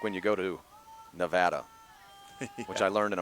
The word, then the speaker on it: Nevada: She puts her hands on the counter and leans in and looks me dead in the eyes and says, "It's pronounced Nevada."